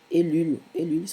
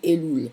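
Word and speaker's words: Elul: Éluul prononce en français. Élu ou élou comme vous voulez.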